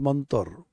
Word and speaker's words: mantra: Mantra is pronounced in colloquial Bengali as mantor.